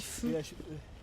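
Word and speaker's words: phở: Ça s'écrit PHO, mais ça se dit feu.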